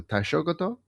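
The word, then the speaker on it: Taishōgoto: Being the, and I hope I'm pronouncing this correctly, the Taishogoto.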